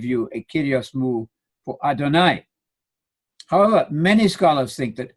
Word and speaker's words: Adonai: The I on the end there, the sound I in the Hebrew vowel, is the superlative Lord, supreme Lord. That's Adonai, Lord God.